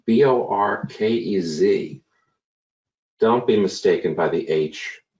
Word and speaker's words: Bohoquez: we have my friend Jose orcas and that's pronounced Bo our kez don't be mistaken by the h4u as I've